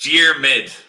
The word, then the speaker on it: Diarmuid: pronounce your name wrong Diamond James Diamond how do I pronounce your name it's dear mid two syllables yeah the spelling doesn't help you replace the deal with